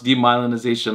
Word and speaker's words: demyelinization: There's two ways to say it. There was a previous episode where I tried to pronounce demyelinization like 10 times. Then I realized you can say demyelination, which is, anyway, so